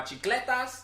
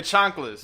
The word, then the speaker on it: chanclas: I had my chicletas. Did I say it right? What the I fuck said is it right. Your chanclas.